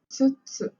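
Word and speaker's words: 五つ: And then 5 is 5つ. This one is a bit hard to pronounce. 5つ. Wait, there's no double T.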